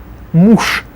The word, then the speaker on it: муж: Муж. Же at the end becomes sh, so муж.